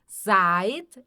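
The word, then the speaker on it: seid: E ait vocês estão e i aqui é um som um pouco diferente, é o som de a i, tá?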